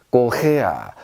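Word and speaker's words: Korea: 꼬헤야 이렇게 발음하시면 되겠습니다.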